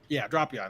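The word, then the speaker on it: Drapion: Dropion, that's how they say it.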